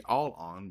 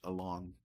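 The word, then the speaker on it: Allon: It should be all on, but it's actually pronounced Alon.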